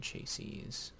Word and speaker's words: chassis: how to make machine chassis. A simple machine chassis. Second I is silent. Or the second S. Yeah, chassis. The third S.